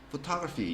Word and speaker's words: photography: 강세가 뒤로 빠지기 때문에 photography 이렇게 읽어야지 알아들어요.